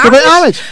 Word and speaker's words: homage: you meant to pay homage to about the homage the hent is silent did you think he was talking about